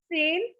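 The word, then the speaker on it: zehn: we call 10 in german so 10 is same so i'm just writing here same so drive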